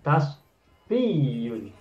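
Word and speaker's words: تصفية: Maka untuk masdar yang pertama adalah tasfiyun. Tasfiyun ynya bersyiddat. atau bersabdu.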